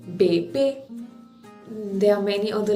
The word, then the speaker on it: bébé: It gives a sound from E to A, bébé.